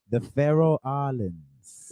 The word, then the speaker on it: Faroe Islands: The Faroe Islands.